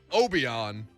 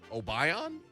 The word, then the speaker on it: Obion: this is a uh this reminds me of a kind of beer but it is not obeon it must be obion wow now now